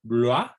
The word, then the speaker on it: Bloy: red, por ejemplo, poner el nombre de Léon Bloy, se escribe B-L-O-Y, Bloy se escribe, Léon Bloy, Paul